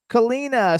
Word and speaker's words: Kalina: We have Devil's Train, Special Day, Kiss the Sky, Senior Garcia, Kalina, is that how I pronounce Yep, it? yep. Kalina, Still Crazy After All These Years, Little Things,